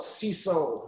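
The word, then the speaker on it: Cinsault: And it has Grenache, Mourvèdre, Syrah grapes, as well as CISO, that's spelled C-I-N-S-A-U-L-T.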